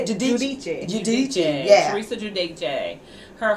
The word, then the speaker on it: Giudice: Giudice.